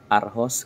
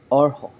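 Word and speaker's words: Aarhus: lang siya sa a45 ang City niya ay aros kung bibigkasin natin sa Tagalog eh aros pero ang basa pala dito or or yun yung bigkas or pero ar ang madaling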